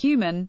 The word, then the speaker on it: HVMN: Phil Libin, CEO of All Turtles, Jeffrey Wu, CEO of biohacking and nootropics company HVMN pronounced Human, led a 7-day fast